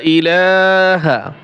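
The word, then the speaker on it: إِلَٰهَ: কালেমায়ে তাইয়েবা কালেমায়ে তাইয়েবা ইলাহা লা এই হরফে চার আলিফ টান দিবেন ইলাহ এখানে এক আলিফ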